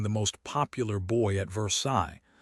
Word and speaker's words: Versailles: most popular boy at Versailles, which in Indiana speak is pronounced Versales.